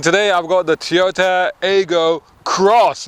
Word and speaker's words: Aygo X: i've got the toyota ego cross it's pronounced cross although they write it as an x now this is basically well